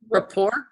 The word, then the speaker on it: rapport: build raer rap part how do you say that word raer rapport Rapport thank you I spelled it